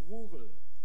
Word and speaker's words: rural: And this graph is for the 95% rural areas. I can't pronounce the R, so that's R-U-R-A-L, okay, rural, not urban, areas in Denmark.